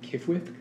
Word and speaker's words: Qfwfq: is primarily narrated by i'm going to pronounce it kifwith uh it's spelled qfwfq who's a congenital know-it-all